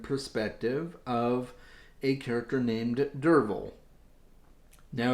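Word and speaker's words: Derfel: a first-person narrative perspective of a character named dervil now it's spelled durfl but it's pronounced durable uh i had the hardest time wrestling with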